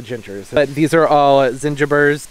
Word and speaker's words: zingiber: This year is going to be very heavy on the gingers, but these are all zingibers. I hear people pronounce it differently, but zingiber, mioga, it's a hardy ginger, and they are in teeny, teeny, tiny little pots.